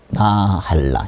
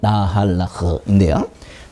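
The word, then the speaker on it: נחלה: 그래서 이거 볼 것 없이 이것도 나할라. 이게 요까지 하면 정확하게 하면 나할라흐인데요. 나할라라고 그래요.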